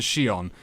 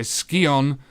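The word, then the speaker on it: Scion: other pieces of the Shion yes it is in fact called a skeon not a Shion but I'm going to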